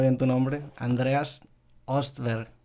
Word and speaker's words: Andreas Östberg: pronunciando bien tu nombre Andreas ostberg es la pronunciación que uso yo aquí porque es como fonético en suco sería Andreas bueno para empezar este